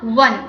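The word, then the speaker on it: one: ठीक है, अ वन, अब यहाँ पर है तो इंग्लिश का वोवल ओ, बट इसका जो साउंड है वो है व, इस वजह से इसका साउंड क्या है व, इस वजह से व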